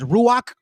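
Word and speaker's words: רוח: Did you know that the Holy Spirit we pronounce as Ruach?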